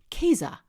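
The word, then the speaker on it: Käse: least not phallic because in German cheese is pronounced kaiza with a k' think about it head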